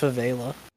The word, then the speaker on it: favela: Yeah, I think it's pronounced favela. Favela. Yes, I'm seeing it now. It's an E, not an A.